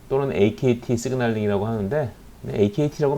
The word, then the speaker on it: Akt: 그래서 프로테인 카이네이즈 B 또는 AKT 시그널링이라고 하는데, AKT라고 많이 해요. 어제 얘기했듯이 뭐 ACT라고 발음하는 사람들이 있는데 ACT 발음이 하기 불편하죠. 그래서 그렇게는 안 불러요, 되게.